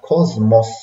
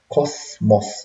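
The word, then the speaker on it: ⲕⲟⲥⲙⲟⲥ: وتلاحظوا في القبطي حرف السين بينطق هنا زين، لأن دي كلمة يونانية وجا بعدها حرف المي، فتبقى كوزموس مش كوسموس، لا بالزين، إني كوزمي كون.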